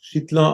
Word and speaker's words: Schittler: Also ich habe gelernt, der türkische Name spricht sich tatsächlich eher wie Schittler aus. So hat es auch der Stadionsprecher ausgesprochen.